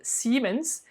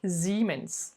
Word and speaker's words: Siemens: habitées ont été pourra plus tôt siemens mais normalement ce serait plutôt ziman elles sont des buts